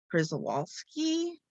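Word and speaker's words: Przewalski: horse known as a prizowalski i know i probably pronounce it right like i'm polish my my name ends with ski so it's p r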